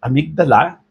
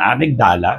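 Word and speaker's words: amygdala: So may mga doctors sa US they pronounce it amigala. May iba naman amigdala. So ako masanay ako sa amigdala basta that's the point.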